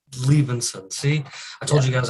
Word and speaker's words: Liebensohn: It's Liebensohn. The H is silent, so just Liebensohn. Liebensohn.